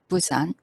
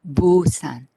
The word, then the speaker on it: Busan: busan is alphabetized b-u-s-a-n b is voiced consonant so uh if i mimic the english native speaker's pronunciation of busan that will be busan with voice and vibration of the vocal code however korean name busan doesn't have any vibration in the consonant so i personally disagree